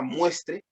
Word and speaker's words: muestre: La forma muestre, imperativo del verbo mostrar, subjuntivo del verbo mostrar, es grave, ¿no?